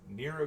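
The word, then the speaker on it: Nrvnqsr: this guy over here whose name has way too many consonants, but is pronounced Nero Chaos, as in the guy from Sukiime, and I guess from um,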